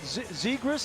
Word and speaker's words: Zegras: Zegras, is that how you pronounce Trevor it? Zegras, Trevor yeah. Zegras.